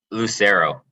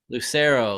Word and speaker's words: Lucerno: i'm joined today with is it lucerno is that how you pronounce it lucero lucero lucero there you go okay so how you